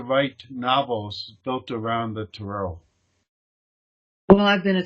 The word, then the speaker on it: tarot: I think because I took French, I call it the tarot, and it's a French word.